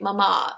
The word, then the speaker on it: mama: to his momma and this is by the way mama I know this because there's an accent on the last a deer Bruns to his